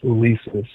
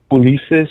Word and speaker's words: Ulisses: My first name is Ulysis. Wait, say it again. Ulisses. U L I S. Oh, Ulisses. Ulisses. You pronounce it. I said Ulysis.